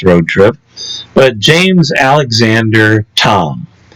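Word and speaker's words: Thom: trip, but James Alexander Tom, and that Tom is spelled T H O M. Is that like Major Tom?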